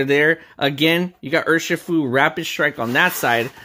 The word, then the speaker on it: Urshifu: It's pronounced Urshifu. Urshifu. Pause it right there and you can be calm and flow like water with rapid strike. Urshifu. Off with your shoe.